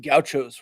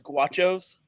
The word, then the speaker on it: Gauchos: gentlemen first of all appreciate you pronouncing goutos right uh there we go it seems like such an easy word I never would have expected people struggling with goutos but there's a a member of the Texas Tech Team uh let's just call him a a front office guy he says guachos guo okay yeah there's